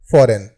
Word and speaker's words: foreign: हमारा अगला वर्ड है फॉरेन, FOREIGN। इसमें जो है G हमारा साइलेंट है और इस वर्ड का जो हिंदी मीनिंग होता है वह विदेश होता है।